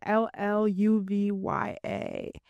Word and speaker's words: Lluvya: Lluv Ya, pronounced with a J.